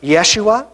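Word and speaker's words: ישוע: the air more so like it would be pronounced Yeshua in in kind of the Greek and Aramaic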